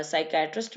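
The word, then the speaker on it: psychiatrist: साइकोलॉजिस्ट, इसमें पी जो है ना वो साइलेंट होगा, साइकियाट्रिस्ट में भी और साइकोलॉजिस्ट में भी पी साइलेंट होगा।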